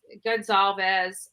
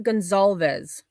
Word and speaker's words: Gonzalez: their last name wrong it's not Gonzalez it's Gonzalez like it's an S like it's not a z and Olivia their daughter